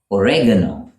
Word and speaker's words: oregano: In the US, though, they call it oregano. Oregano in the UK, oregano in the US.